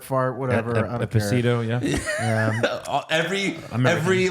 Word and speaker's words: Esposito: Esposito, yeah. Every like syllable he pronounced was wrong. It's okay. It's okay. You're the Hispanic and you can't say Esposito. No. Esposito. He didn't even say Giancarlo right. Espacito.